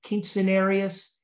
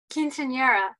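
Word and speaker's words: quinceañera: a cute scenario is king cenarius okay wait you nodded am i saying that right kelly king cenarius quinceanera that's that's it that's it you're better at spanish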